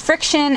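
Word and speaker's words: FriXion: than the friction pins friction I've always said Fricks on because there's an X in there and there's an IO and in there and a friend pointed out that it's pronounced friction and that still just doesn't seem right to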